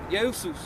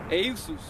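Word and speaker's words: Ἰησοῦς: name, which comes from the proper pronunciation of Jesus in the Greek is Eusus. Yeah. Okay? Eusus.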